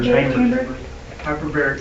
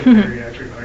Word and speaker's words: hyperbaric: Hyperaric chamber. That's the first time I ever said it right. I always say buriatric.